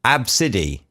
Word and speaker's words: ABCDE: But not only that, not only she called it ABCDE, she's come up with a pronunciation for it as well. She says the child is called Absidy.